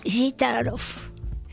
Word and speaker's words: Gitaroff: Además se pronuncia Gitarov. Acentuando la primera I, Gitarov.